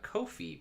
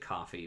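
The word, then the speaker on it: Ko-fi: a link to my kofi page i think you're supposed to pronounce it coffee but it's really not spelled like coffee which is a voluntary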